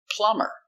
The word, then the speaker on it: plumber: dummer very good example plumber we put e r but the B is silent why because there is